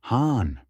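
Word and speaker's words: さん: In Kansai dialect, it's sometimes pronounced han. Beyond names, san can also be attached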